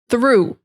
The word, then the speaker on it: through: Next one is through. This is that strong TH sound as well. Through. You're going from the TH to the R. Yeah, thr.